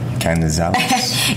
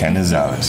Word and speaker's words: Canizales: Again, we are with, and I almost butchered your last name. Canizales. You got it. Canizales.